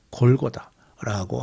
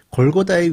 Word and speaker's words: 골고다: 어 지금 성벽을 북쪽으로 많이 옮겨 놓다 보니까 골고다의 위치가 이렇게 선명하게 어느 지역이다라고 알기가 좀 어려워졌습니다.이 골고다라는 발음은 히브리어로식의 발음이고요. 해골 같이 생긴 곳이라는 그런 의미를지면 그러니까 그 골고다 언덕 자체가 좀 해골 같이 생겼던 거 같아요.